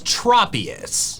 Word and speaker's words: Tropius: The official pronunciation is tropius. Tropius. My different pronunciation is due to a different assumption about its name origin. Its name comes from tropical and saurus, hence the short O in tropius.